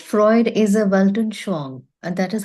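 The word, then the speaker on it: Weltanschauung: placed philosophically it is said Freud is a welon Shang and that is how we pronounce the name yeah what it means is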